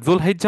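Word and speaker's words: ذو الحجة: সো দুল কদা সঠিক উচ্চারণ, দুল হিজ্জা সঠিক উচ্চারণ। আমরা যে জিলকদ জিলহজ বলি এটা আসলে সঠিক উচ্চারণ না, ওইটা আমাদের, এটা কলকল হয়ে গেছে। এটা মূলত দুল কদা দুল হিজ্জা।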